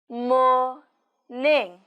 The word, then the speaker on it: morning: gah Oh good morning morning morning the stress on mourning is on the first syllable morning good morning in